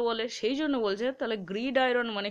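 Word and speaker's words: gridiron: অ্যান্ড অন দ্য, এটা দেখো গ্রিডির অন নয়, ঠিক আছে, গ্রিড আয়রন, এইটা কেটে কেটে উচ্চারণ, তাহলে গ্রিড আয়রন বয়েলস আর লাভার্স হার্ট।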